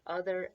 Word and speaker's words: other: out ER it's the it's the sound of the oh that's the tricky part because it does sound like a U but it's spelled with an O both in the word other and in the word another alright then we get over